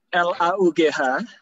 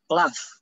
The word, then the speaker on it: laugh: Nah, ini L-A-U-G-H, kan dibacanya F, ya kan? Laugh, gitu kan?